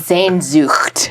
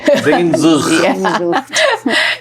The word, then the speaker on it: Sehnsucht: His wife is German, and she taught me how to say it. Okay. And I don't know that I have the guttural strength for it, but it's Sehnsucht. Sehnsucht.